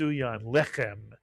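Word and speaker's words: לחם: And anytime you see a word with two segles, the accent is always on the first segle. Normally Hebrew words are accented at the end of a word, but not in a word with two segles. And therefore, this word would be pronounced lemits lem.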